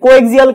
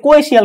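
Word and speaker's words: coaxial: এই কেবল থেকেও পরীক্ষা আসছে, এই যে কোএক্সিয়াল কেবল, এটাকে উচ্চারণ অ্যাকচুয়ালি বলে কোএশিয়াল কেবল বলে।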